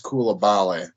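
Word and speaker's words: Coulibaly: I think I'm mispronouncing his first name, Bilal, but I know his last name is Kulabale. I know that's how you say it.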